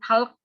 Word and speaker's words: talk: Nanti ada talk juga. Jangan talk dibacanya tapi talk ya.